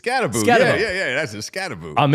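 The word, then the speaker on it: Skattebo: It's Scattaboo. Yeah. That's a Scattaboo. I'm in. Yeah, get us a Scattaboo, an O-line depth, and a tight end. We're good. I'm in on Scattaboo.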